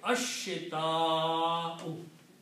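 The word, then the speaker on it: الشتاء: Also, one of the rule of recitation is that whenever you have a hamza and there is an alif before hamza, that alif is pronounced with a mad.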